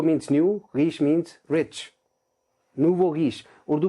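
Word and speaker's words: nouveau riche: आज की लिस्ट का पहला वर्ड, पहला फ्रेज, नूवो रीश। और से सुनिए इसको, नूवो रीश। नूवो means new, रीश means रिच। नूवो रीश Urdu में क्या कहेंगे, नौ दौलतिये।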